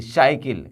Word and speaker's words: cycle: फिर यहाँ देखिए वाई, सी के बाद वाई आ रहा है, तो जब भी सी के बाद वाई हो वहाँ भी हम सी का उच्चारण स के रूप में करेंगे। CYCLE, साइकिल, क्या पढ़ेंगे इसको, साइकिल, न कि आप SYCLE, साइकिल।